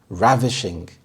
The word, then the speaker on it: ravishing: details of the sculpture ravishing ravishing the stress is on the first syllable and this means stunningly